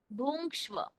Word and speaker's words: भुङ्क्ष्व: 11वें अध्याय के 33वें श्लोक में ये जो है जित्वा शत्रुन भुंक्ष्व, जो अंग ऐसा उच्चारण होता है ना, उस तरह से ये शब्द है वास्तव में, तो उसे कुछ अलग